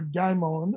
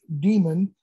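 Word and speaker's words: daemon: use an old greek word demon d-a-e-m-o-n or daimon or as it's commonly pronounced demon meaning genius his own inner spark that directs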